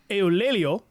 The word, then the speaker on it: Eulalio: This would eventually cause the sitting president of Mexico at the time, and this is a tough name to pronounce, Eulelio is his name, and I did look it up.